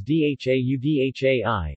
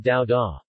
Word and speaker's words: dhaudhai: Thus, a word like dadai, dadhei, mainland, continent, syllabifies as dhaudhai, not dao da.